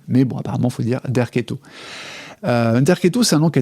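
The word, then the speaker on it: Derceto: Alors, petite note amusante, il semblerait en fait qu'il fallait dire Derqueto. C'est comme ça que le prononce Nicolas Denéchot et c'est comme ça effectivement que c'est orthographié en phonétique sur Wikipédia.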